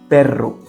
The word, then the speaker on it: perro: But when you see double R, you have to roll it with your tongue. For example, in the word perro, it's a strong vibrating sound, just like the engine of a motorcycle.